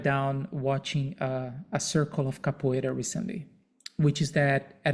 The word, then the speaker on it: capoeira: completely circular, and it's called Capoeira, and Brazilians pronounce it Capoeira, and it's a game created by his elders